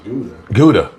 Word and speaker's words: Gouda: It's Gouda. Gouda. Okay. That was Gouda. Gouda rhymes with Luda.